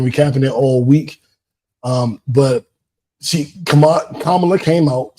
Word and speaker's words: Kamala: I know everybody's been recapping it all week, but Kamala came out, say her name correctly, Kamala.